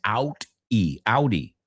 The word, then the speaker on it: Audi: I'm Audi, guys, que es Audi, right? Pero se pronuncia como el coche.